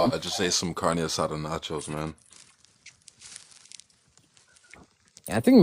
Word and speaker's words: carne asada: I just ate some carne asada nachos, man. Yeah, I think Mac is really sus when you think about it. Mac, you said it wrong. It's carne asada, dude.